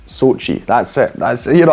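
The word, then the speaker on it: Xochitl: and then i thought no it's just sochi so it's sochi gomez that's the actress's name very simple i love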